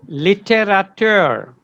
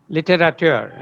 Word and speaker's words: littérateur: Littérateur, yeah? Because it's a French origin, the last EUR is pronounced littérateur, okay?